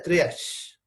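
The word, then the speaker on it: triage: viaje con la palabra originales francesa y se pronuncia trias tras otro viaje como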